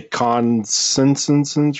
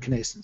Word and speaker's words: connascence: yeah I actually uh didn't know how to pronounce it until I heard um a guy named Jim O'Brien give a talk on it and he said conance so I assume that's the correct way to to talk about it and then